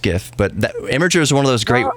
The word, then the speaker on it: Imgur: we heard from Sarah's own mouth that it's pronounced imager that's the beauty of social uh websites would